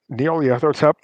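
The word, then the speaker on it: Nyarlathotep: Oh yeah, you might as well call him Gnarly because like you see his name, like no one knows how to pronounce it. It's Neoliathotep, Yeah, I don't.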